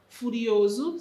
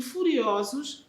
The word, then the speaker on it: furiosos: macaco ficou furioso ara o plural furioso singular e furiosos não se pronunciam da mesma maneira a primeira é intermédia ea segunda é aberta o mesmo acontece com